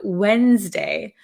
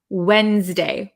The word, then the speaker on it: Wednesday: Wednesday Wednesday Wednesday so I kind of take the D sound out Wednesday okay I think that's pretty standard in um other countries as well like in the UK Wednesday Wednesday Wednesday okay very